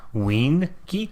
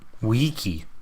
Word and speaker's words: wiki: Winky? Like No. in there? No, no N, but WEE. Wiki.